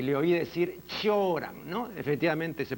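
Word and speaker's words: Cioran: eh zoran se escribe zoran pero no se pronuncia zoran sino choran el otro día en San Marcos en una conferencia estaba entre las personas concurrentes mijael radu no y le oí decir choran no efectivamente se pronuncia así yo recuerdo además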